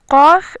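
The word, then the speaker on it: ق: Then we have Fa, Fa, and Qaf, Qaf. Fa is like F, it's always soft. The Qaf sound comes from the soft part of the palate, Qa. Qaf is hard, while Kaf is soft.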